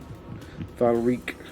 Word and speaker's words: Valreek: Valreek. yeah. Rhymes with Squeak. Not Valreek, no.